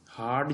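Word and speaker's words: hard: अब हार्ड जो है उसमें एच साइलेंट नहीं है, प्रोनाउंस्ड है, उसके साथ ये आएगा।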